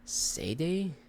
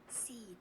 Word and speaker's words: cede: Sayday? The does sayday mean? Sayday. How do you say it? Cede. Cede. Okay, not sayday.